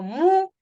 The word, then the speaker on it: música: Y la esdrújula, contando de atrás para adelante, se acentúa en la tercera sílaba. Por ejemplo, música. No digo música, ni digo música. Digo música. O sea, es la tercera de atrás para adelante.